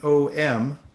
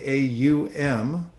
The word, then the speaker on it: Om: practice omits one syllable which in Sanskrit has written om that's actually through the way that language works it's originally AUM but through the the rules of Sunday through various vowels get merged together it becomes om